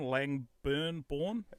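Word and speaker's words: Langburne: Langburn.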